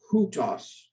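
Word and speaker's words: οὗτος: So we pronounce it with an H, hutos. And notice that the accent makes it not hutos, but hutos. Hutos means this in English.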